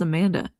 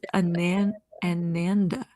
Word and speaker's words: Ananda: Amanda, I've been reading that as Amanda. It's Ananda.